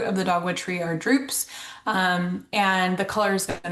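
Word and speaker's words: drupes: Um, and they it looks like droopies, but they're pronounced droops. So, the fruit of the dogwood tree are droops.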